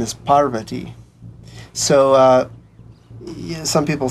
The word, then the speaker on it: Parvati: In the West, people typically say Parvati, but the proper Sanskrit pronunciation is Parvati.